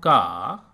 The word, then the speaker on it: क: And you pronounce Ka like CA in car. Car. Car, car, and like CA in calm, calm, calm.